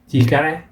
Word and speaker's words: 力: 力 Chikara. Okay, strength, power. Yeah, I think the first time we learned that this pronunciation for strength or power.